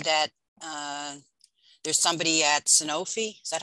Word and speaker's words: Sanofi: I will say that, there's somebody at Sanofi. Is that how you say it? I always call it Genzyme. They're looking Sanofi.